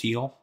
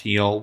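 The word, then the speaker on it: Gil: My hope, by the way, is that Lewis Heel, G-I-L, it's pronounced Heel, returns to the form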